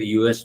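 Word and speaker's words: ewe: होती है तो यू इसका प्रोनाउंस होता है यू ठीक है इसके साथ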